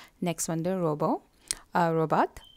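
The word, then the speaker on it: robot: Next வந்து ரோபோ, ரோபாட், அதை ஃப்ரெஞ்சில் நீங்கள் ரோபோ தான் சொல்லணும், டீயை இக்னோர் பண்ணி வந்து ரோபோ.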